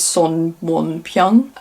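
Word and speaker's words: 손원평: Oh, and then I read Almond by Won Pyung Son, or if you're going to pronounce it the way it is in Korean, it's Son Won Pyung.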